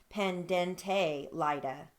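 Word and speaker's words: pendente lite: that word as well is also spoken as pendente lida so that that can go either way as well okay those are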